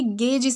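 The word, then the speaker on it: gauge: शब्द है वह है इसे हम ऐसे प्रोनाउंस करेंगे गेज से प्रोनाउंस करना है इसका मतलब इंस्ट्रूमेंट होता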